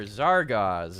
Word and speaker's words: Zargaz: need to get right you are zargaz is that how it's pronounced yeah we're trying it out